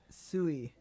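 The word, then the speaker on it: 水: The rain changes and water is pronounced Sui.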